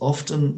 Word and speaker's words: often: yeah yogurt so zebras often love banana yogurt pronouncing the tea and often often always often often no not always not always okay depends how you feel yeah it depends how i'm feeling so uh often often